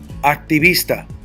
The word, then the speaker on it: Activista: Activista. No hay acento escrito. And how do we know that? It ends in a vowel. The natural raise of my voice is second to the last.